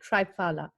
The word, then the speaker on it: Triphala: Is there a particular time to take Triphala? Am I pronouncing? Triphala.